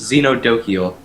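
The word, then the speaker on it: Xenodochial: And apparently someone linked in Twitch chat how to pronounce it, and it's pronounced Xenodokiel.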